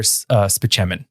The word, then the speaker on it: Spaceman: Dr. Spichemin. But it's spelled like Spaceman.